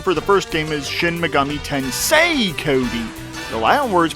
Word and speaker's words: Shin Megami Tensei: has its audience you know you have like shimagami Tensai you have Persona you have like these other